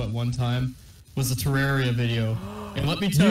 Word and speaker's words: Terraria: one time was a terraria video and let me pronounce the wrong shut up you pronounce it wrong it's terraria well I say boom